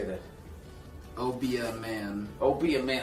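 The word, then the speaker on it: Obeah: Obie a man.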